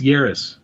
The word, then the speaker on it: Yaris: a yaris yeah yes no it's yaris like paris remember you're the only